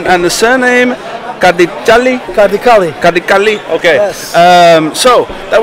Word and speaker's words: Kardiçali: and the surname Kardiçali.